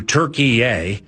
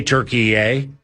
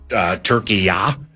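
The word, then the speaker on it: Türkiye: Uh Turkey formally formally changed its name to Turkeye. They say Turkeye. Uh there are other pronunciations that go Turkeya, but it's not Turkey. It's not like It's not like what you eat at Thanksgiving.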